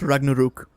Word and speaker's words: Ragnarok: Yes, it's pronounced Ragnarok.